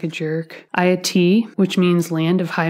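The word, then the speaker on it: Ayiti: It's from her collection called, I had to look up how to say this so I didn't sound like a jerk, Ayati, which means Land of High Mountains.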